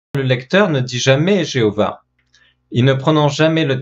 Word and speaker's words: Jéhovah: prononciation de ce nom comment se prononcer le tétragramme alors au 19e siècle en pensée qui se prononçaient jéhovah pensée qui se prononçaient jéhovah parce que les voyelles qui sont en dessous des consonnes et bien sont les voyelles qui